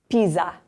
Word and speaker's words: Pisa: You probably already know how to say this, but it's in between two vowels, so it sounds like a Z. Pisa.